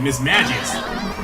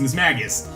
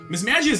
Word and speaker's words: Mismagius: Misdreavus also got an evolution as well in Mismagius, which I used to mispronounce as Mismagius.